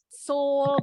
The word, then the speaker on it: Seoul: Seoul, bacanya Seoul.